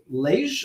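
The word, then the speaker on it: Liège: from the university of lage i hope you pronounce that properly in belgium did i say that right yes okay you need to pronounce it in french all right and at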